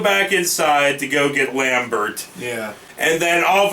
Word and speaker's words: Lambert: So they go back inside to go get Lambert. Yeah. And then all of a sudden, I fucking... have to emphasize his last name. I get it. It's Lambert.